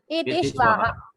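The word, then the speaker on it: एतेऽश्वाः: Ete Shvaha. So same thing you'll say here also. Ete Shva. Same thing. That Avagraha Chinnam has no pronunciation value at all.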